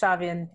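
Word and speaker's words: Samhain: Is it Samhan? Shaman. It's what my husband tells me, who is very Irish, so I'll just trust him. So it's Shavian, and we're going to celebrate.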